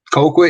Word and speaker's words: Colquitt: are with uh donovan colquitt i am pronouncing your last name right right coco yep okay cool cool all